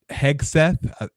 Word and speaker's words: Hegseth: background um Pete he hegseth I was pronouncing the G as a j for the longest time